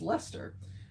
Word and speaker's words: Leicester: William Johnston's A Pronouncing and Spelling Dictionary, 1764, notes that the C is not pronounced in the words such as Leicester, Gloucestershire, Worcester?